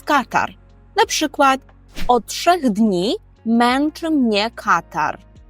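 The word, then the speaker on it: katar: і нежить попольску то Катар Катар Катар зверніть увагу де падає наголос Катар наприклад отх днів меншемне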